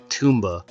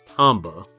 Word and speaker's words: Tomba: I'm like, "I'm pretty sure it's Tomba cuz, you know Tom is a name and then ba Tomba."